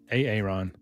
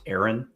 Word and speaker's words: Aaron: A Aon. A Aon. It's pronounced Aaron.